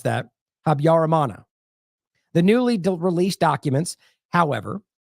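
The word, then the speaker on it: Habyarimana: ultimately did replace them that is how you pronounce that habarana the newly released documents however provide no answer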